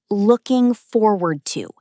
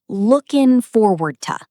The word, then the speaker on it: looking forward to: Notice how we say looking forward to. It flows together, almost like one long word. Looking forward to.